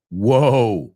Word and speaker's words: whoa: The second one, whoa, whoa, tranquilo, tss, tss, tss, whoa, que se escribe W-H-O-A. Evidentemente, el H es, WH is like when, where, whoa, whoa, calm down, para el carro, espera, whoa, whoa.